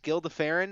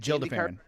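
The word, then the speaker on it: Gil de Ferran: It was Gil DeFerrin. Is that how you say it? Jill DeFerrin.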